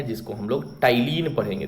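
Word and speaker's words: ptyalin: Salivary amylase, या इसका एक और नाम है जिसको हम लोग टाइलिन पढ़ेंगे। देखिए यहाँ पी साइलेंट है, इसको हम टाइलिन पढ़ेंगे।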